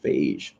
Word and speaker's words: Feige: It was saved by Feige. Or Phage. We're going to call him Phage because I'm going to make it rhyme with beige.